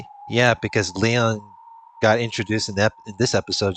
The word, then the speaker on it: Lion: Lion but pronounced Leon. Like Leon.